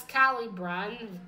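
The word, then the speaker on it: Caliburn: you'd say them in English and he has Kylie Brian that's how you pronounce his name it was a very smart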